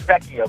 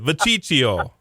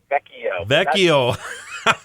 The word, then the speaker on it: Vecchio: Last name is Vecchio, but you were close. I knew I was butchering your name. I just knew it when I said it. Vaciccio. Am I saying it right now? Vaciccio. Vecchio. Italian.